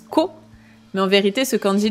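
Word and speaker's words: 子: Et pour ceux qui connaissent déjà le deuxième candy, hein, c'est le candji de l'enfant qui normalement se prononce co mais en vérité ce candi de l'enfant on le retrouve dans plein plein de mots différents.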